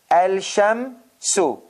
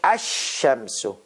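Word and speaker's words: الشمس: tip of the meme al-sham su but it is not correct the way i am pronouncing it is not al-shamsu that is wrong you have to say asham so do you hear lam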